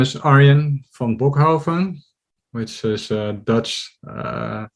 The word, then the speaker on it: Arjen van Bochoven: who don't know me um my name is aryan von bokhofan which is a dutch name which is really hard to pronounce it gets pronounced mispronounced all over the